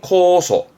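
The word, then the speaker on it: 酵素: 발음은 코소, 효모입니다.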